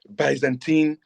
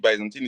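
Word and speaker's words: Byzantine: that says account for the achievement of the Bisantine Empire. Account for the achievement for the Baisantine Empire. I don't know how you pronounce the name, but that's how I pronounce it. Baantine.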